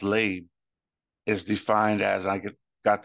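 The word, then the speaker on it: לב: And this word heart in Hebrew, pronounced lab, is defined as, I got this from Strong's Concordance, it's defined as the inner man, the mind, the will, the heart.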